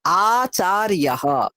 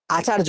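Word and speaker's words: आचार्यः: তারপরেরটা আচার্যঃ, আচার্য নয়, আচার্যঃ, আচার্যঃ, ইয়, ইয়, আচার্যঃ। আমি এখানে কেন প্রত্যেকটা বলছি, এখানে প্রচুর ভুল হয় তাই। আচার্যঃ।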